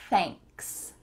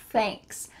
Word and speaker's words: thanks: Thanks. Thanks. Make sure that when you say the TH, your tongue is between your teeth and you're also feeling a little stream of air coming out.